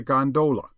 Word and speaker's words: gondola: known amongst the fraternity as a gondola with the second syllable emphasized and pronounced long but to return I